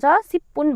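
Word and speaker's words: 십분: किनकि फाछिमा ब आए लगत्तै पछाडि पनि ब आउँदा यसको उच्चारण प गरिन्छ। त्यही भएर यसलाई हामीले पु भनेर उच्चारण गर्नु पर्यो है। सिप पु सिप्पु अब यो यसको तलपट्टि नलाई राख्दा खेरि यसको उच्चारण न सिप्पुन भयो है।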